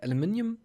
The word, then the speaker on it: aluminium: didn't grab there's like aluminium I guess yeah but that's not how you say it but that's fine yeah it's the British way I know aluminum aluminum